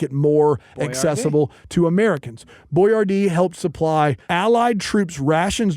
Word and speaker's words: Boyardee: Boyardee helped supply Allied troops rations during World War II.